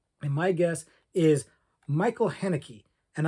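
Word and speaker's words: Haneke: my guess is Michael henneke and I'm not sure I'm pronouncing the name right but I believe it's hanaki uh Michael hanake who not only directed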